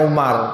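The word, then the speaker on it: عمر: Umar bin Abdul Aziz kalau gak ada wawunya itu bacanya Umar kalau ada wawya setelah ro itu bacanya Amr ya Umar bin Abdul Aziz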